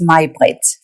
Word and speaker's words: May-Britt: Actually, my name is May-Britt, but because it is spelled with a Y, everybody calls me May.